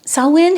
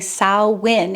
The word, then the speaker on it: Samhain: take a look at understanding sinn's historical significance sawin has ancient Celtic and pagan origins dating back over 2,000 years and you're noticing I'm saying sawin even though our English spelling Sam H is